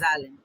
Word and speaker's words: Zahlen: Alright, so this pronounced Zahlen, Z-A-H-L-E-N.